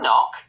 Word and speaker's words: knock: Ooh, Geraldine, was that a knock? Knock. Knock has got a silent K in also.